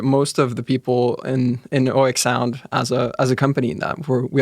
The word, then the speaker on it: oeksound: It's not a problem to pronounce it as oeksound, as the tree oak. Right. But I think the Finnish way would be oeksound without any kind of diphthong on the first syllable.